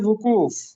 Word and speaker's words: وقوف: ہیں۔ اس کے بعد درست تلفظ ہوتا ہے وقوف، جیسے ہوتا ہے نا بے وقوف، وقوف بے وقوف، یہ ایک دوسرے کے